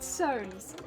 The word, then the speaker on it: Soane: Soane's. I think Soane is spelled S-O-A-N? Soane, like that. Rather than like Soanes. It's like Soane's. Yeah, would recommend it.